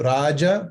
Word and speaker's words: Raja: Porque eu falo Raja, porque, bom, é assim que Raja é uma palavra do sânscrito, né? Então, tem que ser pronunciado assim, né? Raja.